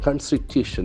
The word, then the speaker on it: Constitution: very careful in pronunciation Constitution Constitution okay Constitution okay accent falls on the third syllable Constitution okay Constitution that's